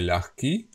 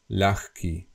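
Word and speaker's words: ľahký: not heavy yeah light in Slovak we say laki which means light as of low weight and it is pronounced as L key L key okay okay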